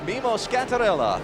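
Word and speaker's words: Mimmo Schiattarella: pronounce his name correctly roll the r if you ever want to get pasta again you have to say his name correctly mimo scarella 31-year-old from Milano Italy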